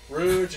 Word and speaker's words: Rouge: Knuckles he's a cheater rouge and shadow those are I don't know how to do how do you say Rouge you say Rouge I say Rouge Rouge yeah rude that's Rouge it's not Rouge Rouge your knees have